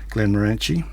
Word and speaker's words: Glenmorangie: So, and I did hear from somebody during the week that that's not how you pronounce Glenmorangie. He says that Scots call it, say, Glenmorangie, as in orange.